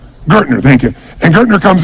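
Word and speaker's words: Gerstner: And they brought in what I want to pronounce his name was Gastner, the gentleman who came in who was like the major turnaround guy. What's his name? Gertner.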